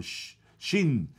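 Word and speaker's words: שׁין: Se pronuncia con los hebreos, más o menos lo que entiendo, se pronuncia como SH, como Shin.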